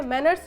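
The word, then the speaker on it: Ménière: हम हमेशा जो टर्म लेते हैं इसके लिए वो लेते हैं मैनर्स डिजीज़। मैनर्स डिजीज़ का नाम कभी भी आता है मैनर नहीं, इसकी स्पेलिंग है MENIERES, मैनर्स डिजीज़।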